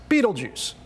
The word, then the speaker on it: Betelgeuse: Its name is Betelgeuse, which most people pronounce Betelgeuse.